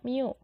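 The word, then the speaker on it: μ: = miokard dikali n ini bacanya Miu Sedangkan untuk Persamaannya ada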